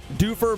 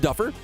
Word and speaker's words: Dufur: got to press ready doofer versus buena park these students let me know it's not pronounced duffer and i mean that